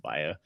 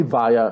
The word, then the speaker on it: via: learn how to use via if you say via it's not that hard via it's just twoo syllables yeah yeah Val is